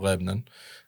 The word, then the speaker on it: Lebanon: Lebanon um it's called it's spelled like Lebanon but all the locals called Lebon um it's just east